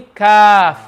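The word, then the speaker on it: ق: tongue touches the palate so cough is when it goes more back if you note the more side the letter is the more longer it takes to pronounce so if you understand this the more better it's quicker to pronounce call for calf wallet will be quicker calf yes that's only the back and cough is the extreme back understand is the extreme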